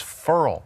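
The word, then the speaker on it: Ferrell: account and pronunciation is interesting with him clelan farrell most people say thank you help me i called you cotton ball though and the the tiger sid came in and said it's furl right they said everybody in the world is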